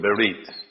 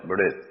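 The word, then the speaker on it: ברית: But the Hebrew word for covenant is, we call it in modern Hebrew, berit. But in the Ashkenazi pronunciation, they call it berith.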